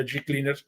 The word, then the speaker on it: G Cleaners: Nos sentimos también sumamente orgullosos que la gente de tintorería y la banería G Cleaners nos acompañe. Se escribe Hecleaners y se pronuncia, dígalo como yo, G Cleaners.